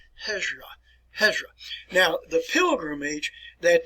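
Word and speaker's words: Hijrah: r a all right let's pronounce it here hezra ezra work on your pronunciation hezra all right let me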